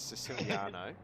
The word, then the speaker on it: Siciliano: him silly okay now here's how you actually pronounce it it's siciliano yeah i'm illiterate yeah